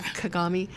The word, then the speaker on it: Kagame: Legally so next question then you said that kagami is that how you say it kagami kagami yeah kagami that the world was supporting him in 1994